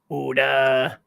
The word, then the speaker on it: Oda: Oda rhymes with soda.